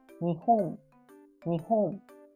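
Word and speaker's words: 日本: So this is 3. So it means 3 beat. Nihon, nihon.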